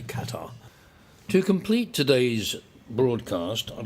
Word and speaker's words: Qatar: the case for Qatar, which I learned apparently is pronounced Qatar in Arabic from an Arabic speaker, but I think we'll continue to say Qatar.